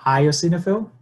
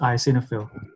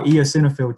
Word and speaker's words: eosinophil: pronounce this it's called io signa film yeah so you yeah so you just get rid of the the e part just call it I so just ice in a film yeah I mean you